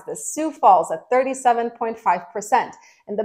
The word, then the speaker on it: Sioux Falls: thank you guys for telling me how to pronounce this Sioux Falls at 37.5 percent and the best part is